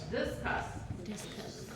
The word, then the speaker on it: discuss: जिया, upon अपन नहीं, डिस्कस, बहुत सारे लोग डिस्कस बोलते हैं ना, डिस्कस, लेट्स डिस्कस, तो वो उनका स्ट्रेस कहाँ पे है, दिस पे है, while you should stress on discuss. Then again NEGLECT.